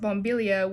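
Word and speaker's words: bombilla: light bulb is pronounced bombillia, which sounds similar to bomb.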